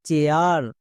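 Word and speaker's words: chair: সি এইচ এর জন্য চো, এ আই এর ঠিক পরে আর আছে, তার মানে এ আই এর জন্য এ আ, চো প্লাস এ আ, চেয়া। আর আর এর জন্য কি হয়, রো, তাহলে পুরোটা কি দাঁড়ালো চেয়ার।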